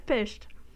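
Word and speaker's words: Pysht: I was like, how the fuck do I pronounce that? I've completely forgotten, and then I remembered. I was like, oh yeah, it's pished.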